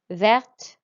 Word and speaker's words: vert: and the feminine singular vert we pronounce the t here because it's an e at the end and blanc tends to